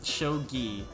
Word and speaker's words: shogi: Yeah, it's shogi because you don't say the J.